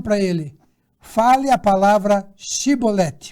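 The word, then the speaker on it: shibboleth: um pouquinho diferente e eles não conseguiam falar a palavra com a pronúncia correta então o que acontecia quando ele ia falar essa palavra shiboleth eles falavam talvez cebolete e falando assim eles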